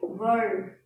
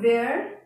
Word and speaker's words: were: Okay, now for are, the past tense will be were. It's not where, it's were.